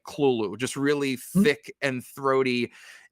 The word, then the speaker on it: Cthulhu: is supposed to be pronounced without the th it's all supposed to just be heavy guttural KL kind of sounds it was supposed to